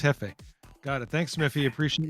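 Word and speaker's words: jefe: It's pronounc It's pronounced Hefe.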